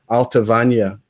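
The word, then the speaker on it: Allt-a-Bhainne: want this pronounced so I fell back on the Gallic pronunciation for that one and I went with the Gallic pronunciation which is alta Vanya which when I spoke to something that worked there that's how they pronounced it as well a coincidence so often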